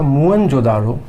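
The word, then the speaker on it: मोहनजोदड़ो: अब बात करते हैं मोहन जोदड़ो की तो मोहन जोदड़ो जिसे सिंध भाषा में मृतकों का टिला कहते हैं जिसका शुरुआत में जो उच्चारण हुआ था मूल उच्चारण था इसका वह था मुन जोदारो मु जोदारो का अर्थ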